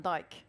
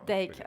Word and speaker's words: Dijk: Like Dick Van Dyke. No, I can see people laughing. That is not the pronunciation. No. Dijk, okay.